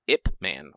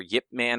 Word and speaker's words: Ip Man: about Ip Man or Yip Man? I don't know. However you say it. It's I believe it's pronounced like Yip Man, like with a Y, but the Y is very, very subtle.